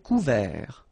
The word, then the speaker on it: couvert: Un ciel couvert. Final T not pronounced.